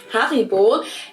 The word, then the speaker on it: Haribo: We pronounce it Haribo. Haribo.